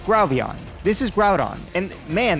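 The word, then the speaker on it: Grovyle: I was kind of confused what Grovion was and realized I was just pronouncing it wrong. It's Growvion.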